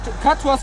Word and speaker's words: Catros: you say that name is it katro or catro Catos plus Catos plus Catos plus and the name is like Catos plus we have the Catos